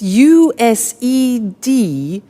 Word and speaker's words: used: It's U-S-E-D and then T-O. But the pronunciation is not used, it's used. Unusual. Used.